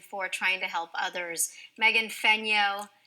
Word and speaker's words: Fenyoe: Megan Fenyoe, there is an E in her last name, but it is silent.